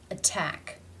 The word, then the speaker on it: attack: sound which is which the first word the stress falls on the second syllable which is begun with the t sound therefore it is a true t a real t sound attack attack in the second